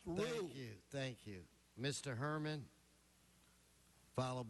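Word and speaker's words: Ryu: R-Y-U pronounced Rue.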